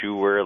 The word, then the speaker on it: Schur: I say Mike Schur, like someone who makes shoes.